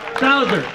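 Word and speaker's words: Sauser: Men 25 to 30, third place, Brian Saucer, S-A-U-S-E-R. I hope that's, is that how you pronounce it? Saucer? Saucer, okay. Saucer.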